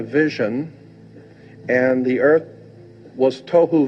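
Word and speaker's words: תֹהוּ: The two Hebrew words that are being translated there is tohu and vohu. Pronunciation, it would be T-O-E-W-H-O, tohu.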